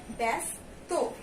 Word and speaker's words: ব্যস্ত: এখানে আমরা আকার দিইনি, কিন্তু এখানে কিন্তু আমরা আকারের উচ্চারণ করছি, ব্যস্ত। এরপরে দেখো ব্যবহার, এখানেও আমাদের